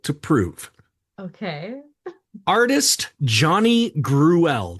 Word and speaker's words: Gruelle: Artist Johnny Gruelle, that's how it's spelled, Gruell. It's like Cruella, but yeah.